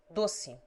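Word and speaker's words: doce: the unaccented o is generally pronounced like you short as bunito two an accented e is often pronounced like i short as dossi a the following will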